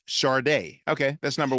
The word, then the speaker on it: Sade: Pronounced Sade. Okay, that's number 1. Sade. Pronounced Sade.